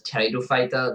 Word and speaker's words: Pteridophyta: The next division is Tracheophyta, otherwise known as Pteridophyta, the silent P in front, and these are known as ferns.